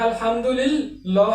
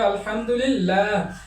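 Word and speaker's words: الحمد لله: আল্লাহ শব্দের আগে য রয়েছে এলামটাকে পাতলা করে উচ্চারণ করতে হবে কলিল্লাহুমমা আলহামদুলিল্লাহ এটা আলহামদুলিল্লাহ হবে না এটা হবে আলহামদুলিল্লাহ আলহামদু এভাবে উচ্চারণ করতে হয়।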